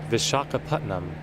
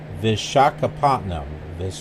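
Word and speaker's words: Visakhapatnam: The first waypoint that we'll be getting to is Vishakhapatnam.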